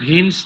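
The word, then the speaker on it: Vance: বাংলায় উচ্চারণ ভান্স হবে, ভান্স হচ্ছে করেছে, মানে ভান্স করেছে।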